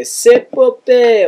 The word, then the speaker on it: Cepopeye: I chose the name Cepopeye because, that's how you say it, by the way, Cepopeye, or that's it, actually.